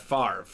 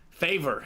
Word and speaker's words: Brett Favre: quarterback though Mr Brett Favre yeah second round pick second round pick they they pronounced his name favor in the draft BR fav seen that